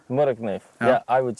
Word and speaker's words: Morakniv: Morakniv. Morakniv.